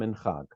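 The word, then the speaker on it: Minhag: Mitzvot de Rabbanan are commonly divided into three categories: Getzera, Takana, and Minchag. Yeah, so just to get the pronunciation right, Gezerah, Takana, and Minchag.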